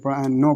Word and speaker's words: know: देखो आगे यहाँ पर जैसे नो बताई दिया कि KNOW की एन से पहले क्या है, के है, तो के क्या रहेगा, साइलेंट रहेगा, तो इसको फिर नो पढ़ेंगे।